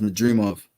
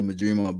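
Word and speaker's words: Madrimov: really um madof this it's pronounced madof Israel madof but yeah he uh his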